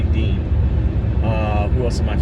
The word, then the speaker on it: Dion: he's irish american but it looks like it's spelled spell dion like d-i-o-n with this they say dean uh who else am